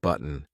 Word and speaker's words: button: and hit the like button okay did you hear a browse button button and this is the first thing we're going to talk about today it is the gladle stop so if you watched